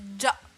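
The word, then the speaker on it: じゃ: Alors, pareil, Lucifie, la prononciation c'est ja. Ja. Donc avec un D prononcé devant.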